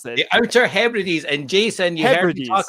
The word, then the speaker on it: Hebrides: How do you pronounce that? The Outer Hebrides.